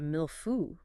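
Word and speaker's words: mille-feuille: and you were staring at a pastry called a mil fu m i l e-en f u i l l e or a cherry cleafutus.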